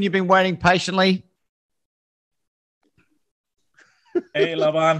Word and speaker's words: Laban: It's the European version that you're going with, the Laban. So, but technically my given name is Laban, but as long as you don't call me late for dinner, I'm happy.